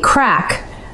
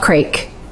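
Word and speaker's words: craic: Thirdly, crack, as in Irish good fun, is not crake. It's crack, you fools.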